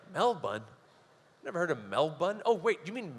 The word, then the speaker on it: Melbourne: I was like Mel but never heard of Mel bun oh wait do you mean Melbourne like there's